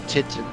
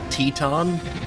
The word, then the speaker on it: Titan: about something yeah i i think it's supposed to be like teton like not quite like grand teton national park or whatever i don't